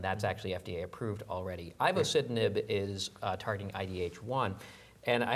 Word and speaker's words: ivosidenib: This is a drug, ivosidenib, if I'm saying it correctly.